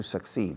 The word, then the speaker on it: succeed: Tener éxito es to succeed, triunfar. Succeed. Succeed. Suck, como el verbo chupar. Aspirar. Suck. Y luego semilla. Aspirar, semilla. Succeed. Así suena. Succeed. Y se acentúa mucho la segunda sílaba.